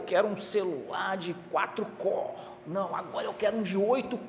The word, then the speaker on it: core: a pronúncia da palavra nós fala cor escreve core né mas é cor mesmo que é o núcleo